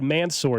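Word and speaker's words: Mansoor: The draft pronunciation guide Thursday night said Mansour Delane, and of course, we've now figured out it's Mansour.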